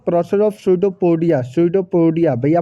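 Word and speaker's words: pseudopodia: तो इसका दो बाई the process of सूडोपोडिया भैया, पी साइलेंट है, सूडोपोडिया बोलते हैं, सूडोपोडिया की वजह से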